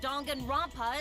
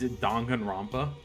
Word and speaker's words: Danganronpa: A cosplay performance of the whole wide Danganronpa world.